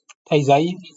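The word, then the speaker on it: 滞在: Donc il me dit que ça se prononce taizai.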